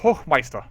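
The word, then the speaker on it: Hochmeister: and he says honored H Meister which is by the way the the way to pronounce this title hme which means High master I obiously stand together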